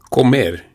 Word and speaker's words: comer: Let's look at the O and the E for pronunciation. The O is pronounced as O, and the E is pronounced as E. So it's comer. And you have that rolling R, which we're going to start practicing from right now.